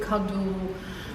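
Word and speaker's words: Kaddo: We put the accent on the first syllable, like not cadeau, but cadeau, and we change the spelling, and we add sometimes like for the verbs proposer, proposeren, Okay.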